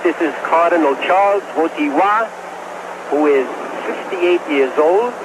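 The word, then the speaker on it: Wojtyła: yet Vila it's w WWA the accent is on the T WWA although you spell it w j t i l a WWA my polish friends have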